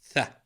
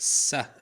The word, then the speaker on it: ث: Officially, in Fusha, it's pronounced like T and H in thanks. Tha. Suffering succotash. In some accents, in slang, it's pronounced sa, and in others ta, but mostly it's pronounced tha, as in thanks.